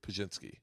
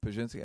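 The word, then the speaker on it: Pazsitzky: But I say that to people that don't know only because it's how do you pronounce her last name? Pajinski. Pajinski.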